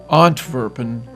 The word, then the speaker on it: Antwerpen: Antwerp is pronounced Anvers in French and Antwerpen in Flemish.